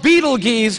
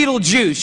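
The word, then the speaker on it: Betelgeuse: heard about this star it's called Beetle Gees or be Beetle Juice you can pick your pronunciation I'm obviously going with Beetle Juice and Beetle Juice is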